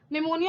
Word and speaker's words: pneumonia: plural pneumonia like organism pneumonia also stands with p ah p is silent okay the largest cell